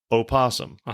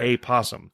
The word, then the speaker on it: opossum: is the Virginia opossum it's not pronounced it is uh no I'm reading it is often simply referred to as an quote opossum and opossum not a possum right and in North